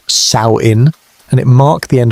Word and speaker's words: Samhain: The Kelts called it Sam Hoyin, pronounced Saoin, and it marked the end of one year and the beginning of another.